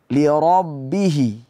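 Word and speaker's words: لربه: makhraj huruf ikhfa tersebut lirabbihi baik kata-kata lirabbihi ada huruf ro baris atas dibacanya tebal kemudian ketemu dengan ba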